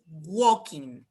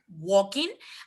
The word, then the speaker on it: walking: pronunciation of the birth you never pronounce the l okay he's walking he has been walking and then since he